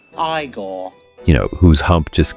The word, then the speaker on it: Igor: making footsteps along with his uh bugeyed assisted Eigore. No, it's pronounced Igore.